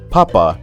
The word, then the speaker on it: papa: In other words, you must pronounce the second A with a prominent high intonation, otherwise you'll find yourself